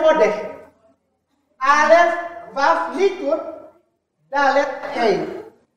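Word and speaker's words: אודה: Odeh, ini bacanya odeh.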